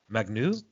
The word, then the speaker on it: Magnus: Renamed in 2004 to take the name of its championship trophy, the Magnus Cup. How do you say Magnus in French? Magnu. Isn't it? Yeah, that's all right. Sure.